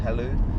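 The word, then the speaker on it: Hailu: His name was Halu, and or it's spelled Hale with a U on the end, Halu.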